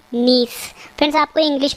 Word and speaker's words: gneiss: सही आंसर है option D नीस। Friends, आपको इंग्लिश में वर्ड भी याद रखना है, इसकी स्पेलिंग है GNEISS, जिसमें जी साइलेंट है, यानी नीस जो है, जब ग्रेफाइट चट्टानें रूपांतरित होती है तो उनसे बनता है नीस।